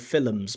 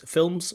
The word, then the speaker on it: films: So in British English, we usually use this films with this la la la la la la la, not the la la la la la. There are like dark L's and soft L's. Sorry, dark L's and light L's in English.